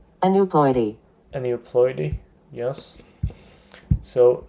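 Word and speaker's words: aneuploidy: an new Ploy let's see how this is pronounced a new Ploy a new Ploy yes so again non disjunction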